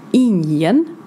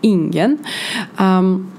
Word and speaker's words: ingen: And here we need to say or remind ourselves that ingen is more frequent said like ingen, but here he said ingen.